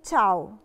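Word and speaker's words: ciao: بننطقش فيها لالعتره ايه مثال عشان نفهم اكتر كلمه كل الناس عارفاها كلمه تشاو لو ركزنا في كلمه تشاو هي فيها ايه بعد لا العطر بس ما بتتنطقش بننطق على طول الاعلى بنقولها تشاو علشان القاعده دي علشان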